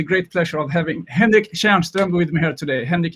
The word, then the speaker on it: Tjärnström: And mine is pronounced Kärrbrink, and yours is pronounced Tjärnström.